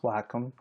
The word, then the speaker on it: Wacom: is a um Wacom tablet and it is pronounced Wacom um but this tablet just allows me to